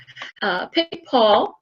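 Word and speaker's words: Picpoul: Pic Paul is a smoother wine, and that is the grape as well, Pic Paul. And it's not the way you think it's spelled.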